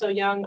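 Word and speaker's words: Ooyung: Todd go ahead hi my name is Francis oou young I am the Rogue River Keeper program manager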